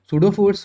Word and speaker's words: pseudo force: sseudo फोर्स बोलते हैं sodofors में पीस इस साइलेंट है ये तो बताइएगा तुमको